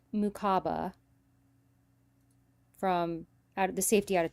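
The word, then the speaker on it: Mukuba: So the Eagles picked Andrew, I think it's pronounced Mukaba, from the safety out of Texas.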